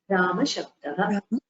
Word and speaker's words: रामशब्दः: अकारान्त रामशब्दः पुल्लिङ्गः अकारान्त पुल्लिङ्ग रामशब्दः you should pronounce the visarga also अकारान्तः पुल्लिङ्गः रामशब्दः अकारान्तः पुल्लिङ्गः रामशब्दः उत्तम